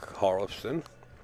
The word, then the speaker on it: Hjorleifson: His opponent, Erik Hjorleifson.